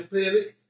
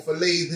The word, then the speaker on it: fillet: Now, we got some beautiful Atlantic cut premium salmon fillets, or fillets if you will. They say the T is silent, I call it a fillet.